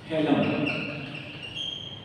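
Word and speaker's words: hilum: उसे हम कहते हैं हेलम इसकी स्पेलिंग ए लेकिन इसको प्रोनाउंस जो है वो हेलम कहते है हेलम बेसिकली वो होल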